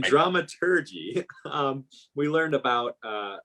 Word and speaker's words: dramaturgy: in drama turkey that drama turkey I see keep saying the wrong G pronunciation you want to know the German route and dramaturgy um we learned about